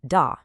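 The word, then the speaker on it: 大: main characters for the day. First up, we have da. The pronunciation is da. Now, really pay attention to the tone here. It's the fourth tone, which is a sharp falling sound.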